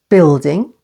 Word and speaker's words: building: U is silent with other vowels like building, stress on the first syllable. Building.